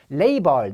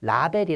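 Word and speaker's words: label: 파도가 파괴 햇죠 파괴하다 레이 벌 내 일을 벌려서 상표를 하긴 했죠 또 꼬리표를 달 다 라벨이 라고 있죠 우리가 그쵸 자 원 발음은 레이 벌이 에요 다음에 크 러 얼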